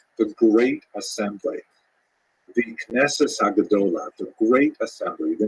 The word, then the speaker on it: Knesset: The Knesset Hagadola, the Great Assembly. The name Knesset in modern Israeli pronunciation is, of course, the prime deliberating body